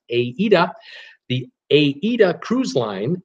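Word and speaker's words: AIDA: a a a dot this pronounced AE de the AE de cruise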